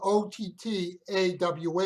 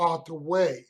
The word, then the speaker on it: Ottawa: Now, in particular, think of the letters, because if you spell it O-T-T-A-W-A, it can be pronounced Ottawa or Ottawa. And it's important because they are not necessarily the same place. For example, one is the county seat of Franklin County in Kansas, and I think that is pronounced more like Ottawa, whereas the capital city of Canada is Ottawa. Spelt the same, but not the same.